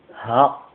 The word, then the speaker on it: ه: Ha. Ha. C'est comme le H, mais Ha. Ça sort du fond. Ha. Ici un exemple qui commence avec un A, la lettre Ha. Avec fatha dessus, on dit Ha.